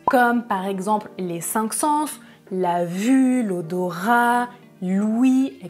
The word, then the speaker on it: sens: a un sixième sens je prononce le "s" il a un sixième sens dans la deuxième phrase je prononce tu sens le parfum tu sens le parfum je ne prononce pas le "s" sentir c'est un verbe dans la première phrase